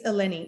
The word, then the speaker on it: Eleni: It's Eleni, isn't it? Yes, that's right. You pronounce it correctly.